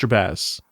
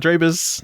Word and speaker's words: Jabaz: It's pronounced Jabaz. Drabaz? Not Drabaz, not Drabaz.